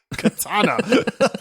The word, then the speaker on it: katana: you and two words katana oh you oh you stop it um by the way it's one word three syllables there is no two in Katana at all I think it's perfect